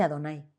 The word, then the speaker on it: Adonai: Se dice Adonai, mis señores, así se dice.